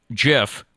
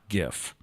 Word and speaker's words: GIF: played a gif at jiff at his acceptance speech which iterated the pronunciation is jif not gif okay there it is